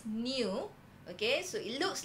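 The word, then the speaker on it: nu: going to introduce a new symbol okay it looks like v but we pronounce as new okay so it looks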